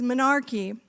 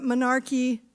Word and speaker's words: menarche: And that word, including me, by the way, before I started this work, and that work is menarche. It's spelled M-E-N-A-R-C-H-E, menarche.